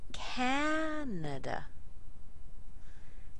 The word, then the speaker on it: Canada: D calendar Miracle very strong and two week syllables Miracle here's a good one Canada Canada and of course the fish halut halet